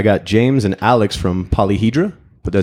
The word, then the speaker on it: Polyhedra: I got James and Alex from Polyhedra.